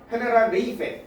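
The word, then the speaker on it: Generalife: 이걸 영어로 하면 제너럴 라이프네, 그죠? 뭐 이거 뭐 주거 아는 거죠? 저게 저런 걸로 불리는. 만약에 저게 스페인어로 한다면 G가 해로 발음돼요. 그래서 헤네랄 레이페 이렇게 되는 거예요.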